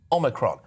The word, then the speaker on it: Omicron: And it is, I can confirm, Omicron. That's how we pronounce it.